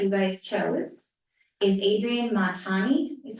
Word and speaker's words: Montani: this logo that you guys chose is Adrienne Montani, is how you pronounce her last name.